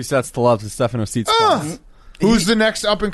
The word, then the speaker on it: Tsitsipas: Yeah, 2 sets to love to Stefano Tsitsipas. Who's the next up and comer, right? He's one of the. How do you say his name? Tsitsipas.